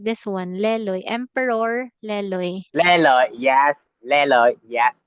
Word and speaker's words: Lê Lợi: like the lake gets its name from Emperor Leloy. La Leloy? I don't know how to say it like this one. Leloy. Emperor Leloy. Lê Lợi, yes, Lê Lợi, yes, correct.